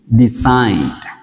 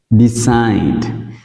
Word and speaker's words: decide: Decide. Decide, quyết định. Decide, quyết định. Decide. Các bạn sẽ để ý thấy là IDE thường chúng ta sẽ đọc là I.